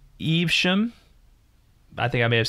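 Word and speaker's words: Evesham: not bad pronunciation uh it's eve shem i think i may have said ivisham or eve but it's eve shem dang say that three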